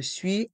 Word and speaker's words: suis: la lettre K je suis asthmatique je suis asthmatique je suis diabétique je suis diabétique encore une fois le U et le i font le son oui sui et le s est mué et dans le mot